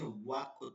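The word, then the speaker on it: وقت: আর আরবিতে হচ্ছে ওয়াক্ত, ওয়া, ওয়াক, ওয়া, ওয়া, ওয়া। ঠোঁট গোল করে ওয়া বলতে হবে।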